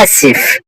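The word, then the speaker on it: آسف: এখানে বাংলা উচ্চারণের মধ্যে আসিফ আসিফ আপনারা এটা খেয়াল করবেন না, আপনি জাস্ট আমার উচ্চারণটা খেয়াল করবেন। আমি কিভাবে আরবিকটা উচ্চারণ করতেছি।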